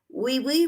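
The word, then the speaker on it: oui: that and ravan says do you speak French we we miss you yes I do Elaine says French wee wee we is they spell it o-u-i and it means yes Tina says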